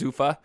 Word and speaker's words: Zuffa: UFC's you know holding company I think it's pronounced Zuffa and that was in 2006 but the world